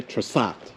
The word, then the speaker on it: Trsat: The Croatians just say Trsat.